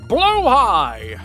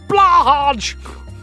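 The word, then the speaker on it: Blåhaj: Supposed to be pronounced blowhigh, roughly in Swedish at least, but you think you've always heard it pronounced blahaj, because it's fun.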